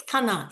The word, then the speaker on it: Kana: So, this is the first time Kana and I am Am I pronouncing your name correctly? Yes. Kana is my name.